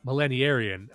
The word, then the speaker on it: millenarian: Millen yeah I millenarian but not Aran like you're thinking it's spelled but millenarian um and it's like